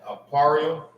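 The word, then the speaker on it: אפרים: Aparium is Ephraim. That's how you say Ephraim in the Hebrew.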